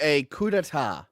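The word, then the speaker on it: coup d'état: you I got you Adam yeah soundtrack to a Cuda a Cuda thank you when you overthrow like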